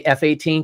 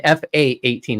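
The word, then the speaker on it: F/A-18: to have a talk don't say F-18 it's an fa8 it's a fight attack 18 I hate it when people say it wrong H sorry I'm former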